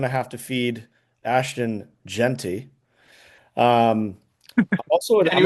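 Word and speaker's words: Jeanty: Gent. How do you say it? Arizona GT. It's Genty.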